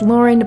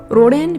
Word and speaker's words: Lauren: end of the dojang my name is Lauren but in Korean it reads as Rin because the r and the L share similarities in pronunciation and here we are